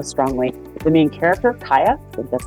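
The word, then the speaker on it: Kya: this book so strongly the main character of Kaya that's how you say her name is a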